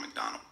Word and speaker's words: MacDonald: it so you don't forget again it's tom mcdonald before that it means this